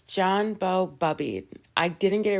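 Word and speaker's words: Boubede: So it's John Bow Bubbied.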